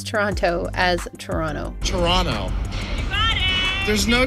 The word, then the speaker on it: Toronto: this within the movie Bullock says she'll go back to Toronto with pronouncing the second T I have to go unless they're thinking about the proper pronunciation people from Toronto typically pronounce Toronto as Toronto Toronto there's